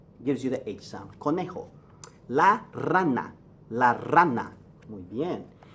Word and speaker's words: conejo: on nobody likes and return their cute el Conejo corn a not joe Cornejo connie ho y J gives you the exam Conejo la rana la rana en el elefante very